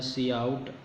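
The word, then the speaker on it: cout: free defined identifier then c out pronounced as a c out that identifies monitor as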